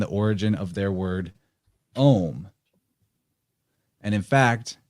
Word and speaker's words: Om: origin of their word Om. And in fact, it's not really spelled, it's pronounced like O-M, but it's not really spelled that way. They spell it more like A-U-M, like that.